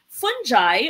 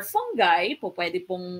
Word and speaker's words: fungi: plants your Magnolia would fall under plant a fungi or fungi uh you both pronunciation Um this can have your yeast your